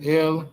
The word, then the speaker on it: El: But it's pronounced as L. It's pronounced phonetically as L and it's written with the with the olive and the lamemed.